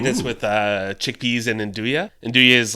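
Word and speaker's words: 'nduja: I made this with uh chickpeas and indua. Induia is like um kind of a it's spelled like apostrophe n dja if you've ever seen it like induja.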